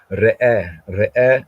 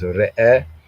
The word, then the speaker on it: ראה: So re'eh, I was saying that's re'eh, but then there's sometimes, in spoken, there's a glide.